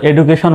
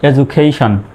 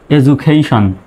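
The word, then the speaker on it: education: এডুকেশন বানানে দেখুন, ডি এর আগে ভাওয়েল আছে, পরেও ভাওয়েল আছে, সুতরাং এখানে হবে ডি এর উচ্চারণ জর মতো। তো এই শব্দটা কিন্তু আমরা আমাদের দেশে সাধারণত এডুকেশন বলি, ডি এর উচ্চারণ ডর মতোই করি, যেটা ভুল উচ্চারণ।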